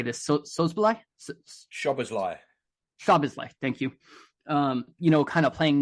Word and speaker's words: Szoboszlai: Szoboszlai, thank you.